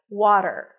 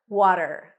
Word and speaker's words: water: of the Olympiad right water water a w sound then the a is in Father w w then a flap T and an R water water in American